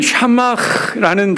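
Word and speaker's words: שָׂמַח: 히브리어로는 샤마흐라는 단어예요. 뭐라고요? 이 발음을 해줘야 돼요.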